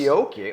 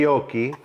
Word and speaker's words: Fiocchi: It's pronounced Fiocchi, okay. Fiocchi. Just think of gnocchi.